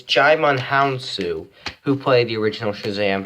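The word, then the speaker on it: Djimon Hounsou: dime DJ DJ Aman Hounsou it's hard to pronounce it give me a second okay okay I got it right out it's it's chime on hounsou who played the original Shazam who turned Billy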